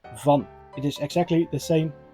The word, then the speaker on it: van: In Dutch we say van.